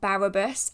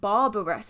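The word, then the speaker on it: Barrabbas: Now, as mentioned, this is by Frate Barabbas. I've noticed in previous videos I've been saying Barbarous, so there's a second B in there.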